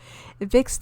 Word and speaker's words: Vicks: the brand name and in german the v is pronounced as f which in germany is considered as sexual penetration vicks thus failed in the